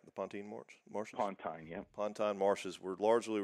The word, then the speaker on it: Pontine: Pontine, that's the way you pronounce that, right? The Pontine marshes? Pontine, yeah.